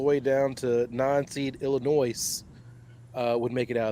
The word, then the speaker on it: Illinois: down to nine seed Illinois uh would make it out of there. And I do pronounce the S in Illinois cuz they stole Lincoln.